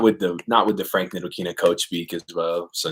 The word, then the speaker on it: Ntilikina: I mean, we got the report that Frank, I don't even know how to say his last name, Nikitica or whatever. Ntilikina, there you go.